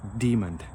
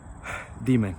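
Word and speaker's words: daemon: call the background process demon demon so it's it's spelled d-a-e-m-o-n instead of d-e-m-o-n but the pronunciations are the same so it's it's kind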